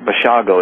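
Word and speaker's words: Basiago: I say that Andy and I think it's Bago is how he pronounced yes it is and one of the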